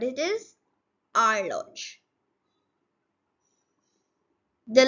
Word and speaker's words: horloge: Okay, so the guys who won't be knowing French would be saying it as horloge. It's not like that. It's horloge. What it is? Horloge.